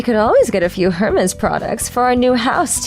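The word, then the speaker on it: Hermès: But I restrained myself from lecturing them that you don't pronounce the H in the company's name.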